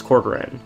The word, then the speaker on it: Corgran: Corgran, I said his name wrong, it's Corgran, will shut down peacefully, knowing we were here by his side, in the place he loved most.